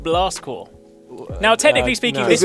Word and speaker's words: Blast Corps: You guys remember a little game called Blast Core? Now, technically speaking, no. this one, It's Blast Corpse, isn't it? well, it's pronounced Core.